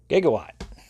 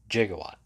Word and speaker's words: gigawatt: um but then also brought down gigawatt or if you want to do the mispronunciation jigawatt but there you can